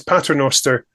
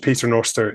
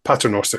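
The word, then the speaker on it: Pater Noster: the street is named so it is correctly is patter Noster is the is right and Peter Noster is also approved of so we're both we're good with both but patter Noster is the correct way to say the series very good all right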